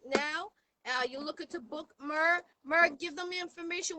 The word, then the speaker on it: Murr: right, so it's spelled Murr and then Mayo. So the way I explain the spelling of the name is you take the AY off of Murray and then Mayo short for mayonnaise.